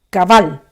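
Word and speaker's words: קבל: la palabra y que en hebreo se dice cabal como lleva un acento en la segunda cabal y significa admitir tomar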